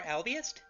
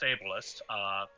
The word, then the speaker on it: ableist: But if lycanthropy isn't a disease, isn't it more albiest? First of all, it's pronounced ableist.